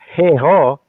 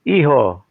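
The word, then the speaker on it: hijo: you look at Uh the Spanish language H is not pronounced it is what we call the silent h h y yyung iho IO H I J O MM That's not heho It's iho So kaya yyung Maharlika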